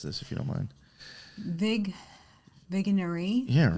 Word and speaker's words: Vigenère: How would you pronounce this, if you don't mind? Vigenère. Yeah, right. Vigenère.